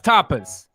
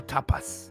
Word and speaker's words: tapas: No, it's tapas. No, I mean, I For- think that's just how you say it. That's correct. I guess I could emphasize the S more, tapas.